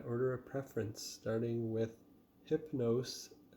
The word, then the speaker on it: Hypno5e: of preference, starting with Hypno5e. I think that's how you pronounce the band name. They've got a 5 where the S would be in that word.